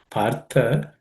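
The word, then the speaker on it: पार्थ: The word partha, the tha, the last letter is aspirated or mahaprana, so it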